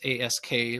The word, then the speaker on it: Ask: You know, my last name is A S K like ask.